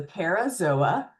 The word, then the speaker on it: parazoa: If they do not have true embryonic tissue, they are the parazoa. Zoa, remember, pronounce every vowel.